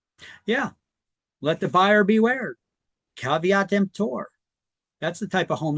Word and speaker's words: caveat emptor: So caveat emptor. That's how you pronounce that. It's not pronounced caveat emptor. It's Latin. It means caveat emptor, means let the buyer beware.